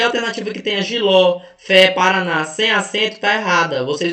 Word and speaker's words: Paraná: Por que Paraná leva acento? Porque é uma oxítona. A sílaba tônica mais forte é a última e termina em A.